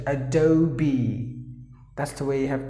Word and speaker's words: Adobe: It's not Adobe, but Adobe. You have to pronounce the word as Adobe. Just imagine that there is one more E, and then you pronounce it Adobe.